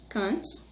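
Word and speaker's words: Kant: é um filósofo alemão emanuel quente que se pronuncia quente khan e o john full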